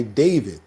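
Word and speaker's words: d4vd: It's pronounced David, but it's spelled uh with um with a four.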